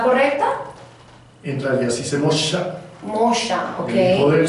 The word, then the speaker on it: Moxa: En realidad ¿La pronunciación está correcta? En realidad sí se Mosha, Mosha, ok.